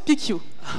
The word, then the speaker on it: PicU: pq pourrait marcher alors ça se prononce picchio désolé ensuite ce qu'il